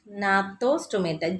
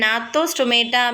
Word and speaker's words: gnathostomata: Okay, agnatha and gnathostomata. G is silent here.